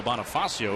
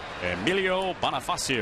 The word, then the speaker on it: Bonifacio: about the Marlins and the Nationals, that Emilio Bonifacio extended his hitting streak to 26 games today. 1-2 slider outside, 2-2. I think you should get a bonus for pronouncing his name properly. Emilio Bonifacio.